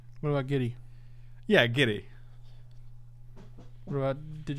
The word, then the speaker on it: Jitte: guess first of all you beat egypt by pronouncing it correctly is it jitte is that you supposed to arrive judy no not jitty what about giddy yeah giddy what about did you do any